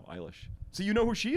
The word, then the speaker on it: Eilish: How you pronounce it? Eilish? Yeah. Eyelash? No, Eilish.